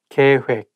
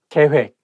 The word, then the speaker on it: 계획: accident So I went to the police department 계획 plan 계획 plan I think when It has double vow